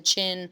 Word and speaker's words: Qin: the rule of the Qin Shi Huangdi. So you see Qin, pronounced like a chin, like the chin on your face.